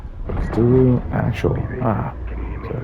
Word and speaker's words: Cthulhu: Cthulhu. Correct. Cthulhu actual.